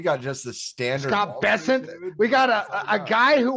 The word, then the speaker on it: Bessent: But Scott Bessent, am I pronouncing his name right? Like the new Treasury Secretary? Yeah, new Treasury Secretary, yeah. It's Bessent.